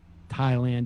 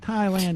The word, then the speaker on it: Thailand: basic understandings of reality, like Thailand is pronounced Thailand, not Thailand.